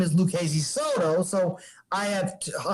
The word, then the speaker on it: Lucchese: It's just go Lucchese. Like when you see Lucchese, Frank's last name, there's a bunch of C's. There's an H in the middle of it.